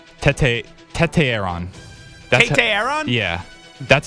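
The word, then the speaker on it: Tetairoa: Tete Aaron.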